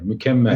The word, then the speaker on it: Mükemmel: Yeah, Mükemmel.